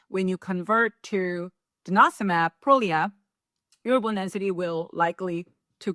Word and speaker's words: Prolia: name is prolia um people call prolia or prolia but we call it prolia so please change your syllable of the stress it's prolia so prolia medication is